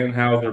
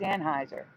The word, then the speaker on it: Anheuser: a bush reportedly yeah they say Anne Houser bush yeah but it's Anheuser yeah it's weird that's